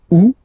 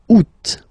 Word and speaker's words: août: And then here, two options, because, well, two options are acceptable in French. The first one, you don't pronounce the final T. Ou. Second one, you pronounce it. Août.